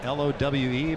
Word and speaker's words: Lowe: And every time I hear you say Lau, I just think of Charlie Lau. Yeah. One of the all-time great hitting coaches. Spelled L-O-W-E, but pronounced Lau.